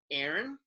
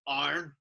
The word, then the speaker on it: Aaron: So, you guys, it's like phonetically you go like Aaron, and then like over here it's a harsh like Arn.